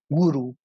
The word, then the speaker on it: gurú: En la India, con el término gurú, que a veces nos dice que se pronuncia guru, ¿sí?